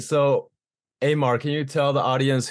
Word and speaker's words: Amar: please welcome Amar yeah I actually like to pronounce it Amar but I don't know my bad no it's cool like Mitch Terrell uh that's a homie uh he uh he pronounces it Omar too on his YouTube reaction videos but yeah I've been meaning to say it's actually Amar so oh God I